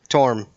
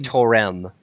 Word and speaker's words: Torm: And it's Torm.